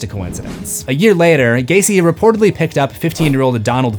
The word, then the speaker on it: Gacy: And no, having a name that rhymes with Jaycee is not required, that's just a coincidence. A year later, Gacy reportedly picked up 15-year-old